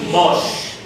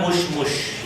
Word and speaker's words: مش: It is not mush. Okay? The first mush is different from the second mosh. 第一个跟第二个发音不太一样。 The first is mush. 第一个是 mush。 And the second is mosh. Mush. Don't say mush. Once you say mush, I will know that you are not Arabic person.